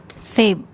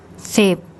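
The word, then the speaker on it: สิบ: The initial consonant is one of the S consonants, then the short I vowel, and then the bo by my consonant we introduced today. And as a final consonant, it makes a P sound.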